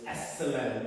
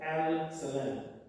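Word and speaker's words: السلام: So we ignore the L. So it's As-Salam instead of Al-Salam.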